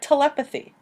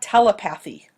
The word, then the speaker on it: telepathy: There are other words, like telepathy. Note the pronunciation here, too. It's not telepathy, but it means being able to pick up thoughts from afar.